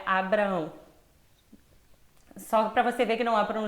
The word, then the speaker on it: Abraão: Como o nome de Abraão, que não é Abrão, é Abraão.